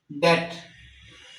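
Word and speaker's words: debt: डेट इसको हम जो है वो डेट पढ़ते हैं। तो ये बी साइलेंट हो गया।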